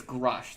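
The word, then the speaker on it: Grusch: name again I'm sorry I think it's grush there's no end in crush yeah yeah like that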